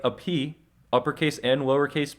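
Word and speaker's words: π: O is an O Pi uh technically they pronounce it p uh we say Pi here in English but technically they would have pronounced it p uh so this is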